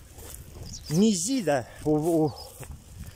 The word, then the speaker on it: мизида: Мизида. Ударение на второй слог там.